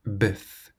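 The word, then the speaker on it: bœuf: And it ends in an F. So you pronounce the F buff.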